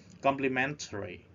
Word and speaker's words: complementary: compliments expressing approval of race complementary we spread at the third syllable and bitter the first